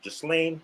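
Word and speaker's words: Ghislaine: let's segue into that uh how do you pronounce his name just lane just lane maxwell yes yeah he pronounced his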